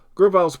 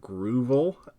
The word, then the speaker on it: Grovyle: You'll see some flavors of this in a second, but Grovyle's pretty good. I actually mispronounced this one until I was a grown-ass adult, and I called it Groovel.